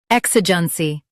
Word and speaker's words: EXIGENCY: U.S. stresses EK, while UK stresses I.